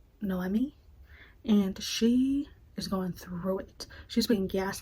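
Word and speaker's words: Noemí: name wrong I think I called her Naomi it's pronounced noi and she is going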